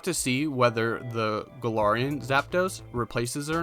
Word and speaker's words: Zapdos: I always say Zapdos back from when I played as a kid, and it's just a habit that's built into me. I always add that in between the two syllables, but it's Zapdos.